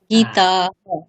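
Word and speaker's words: गीताः: লতা সীতা গীতাহা গীতাহা গীতাহা হুম একদম কম্প্রমাইজ করবেন না উচ্চারণে গীতাহা ওকে লতা সীতা গীতাহা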